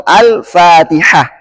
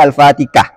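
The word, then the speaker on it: الفاتحة: alamin contoh yang lain Ha bacanya Al hamdu atau al-fatihah enggak boleh al-fatikah ah Nah inilah yang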